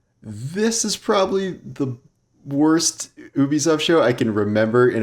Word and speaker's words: Ubisoft: reaction video to the ubisoft show as i've heard it's pronounced now which is why they say a ubisoft original instead of an ubisoft original uh that confused my